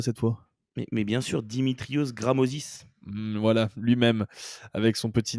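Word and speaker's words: Dimitrios Grammozis: Flo, est-ce que tu peux me le prononcer parce que je m'y essaierai pas cette fois? Mais bien sûr, Dimitrios Gramosis.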